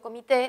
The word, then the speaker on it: comité: una sola palabra committee yo pronuncio comité lo pronunció como aguda subrayó la sílaba tónica